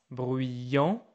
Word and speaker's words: bruyants: Donc, par exemple, il est bruyant, elle est bruyante, ils sont bruyants, don't hear the S, elles sont bruyantes.